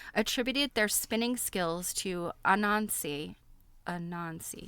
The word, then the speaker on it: Anansi: People across West Africa attributed their spinning skills to Anansi, yes, I'm pronouncing that right, a spider deity.